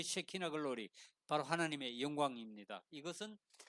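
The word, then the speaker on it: שכינה: 그리고 이 히브리어로는 시키나라 그래요. 시키나 글로리. 영어로는 시카이나 그러는데 사실 본래 발음은 쉐키나입니다. 쉐키나 글로리인데 이게 뭐냐?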